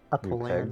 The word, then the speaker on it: Apollyon: Apollyon. pegs, maybe? Apollyon. Apollyon. Yeah. Yes. Okay. Right. Apollyon. Is that spelled like Napoleon but without the N?